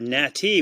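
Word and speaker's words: gnat: there is a word nati, which means you are properly dressed, or there is a nat with a silent G, a ganat, if you will, which is a pest.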